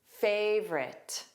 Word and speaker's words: favorite: The silent vowel is that middle O. Again, there are two sounds. Favorite. So the last sound is very reduced as well.